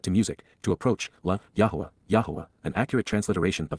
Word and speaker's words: Yahowah: pertaining to the co-worker and associate of Yahowah, Yahowah, the proper pronunciation of the name of Eloah, God as directed in his Torah, teaching regarding his Haya, existence and our Shalom, restoration.